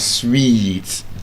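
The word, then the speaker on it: suite: Now s ui t e has the exact same pronunciation as s we e t sweet. Exactly. So sweet and sweet. S ui t e sweet. So where next you see it probably a signboard something hotel and sweet not sweet.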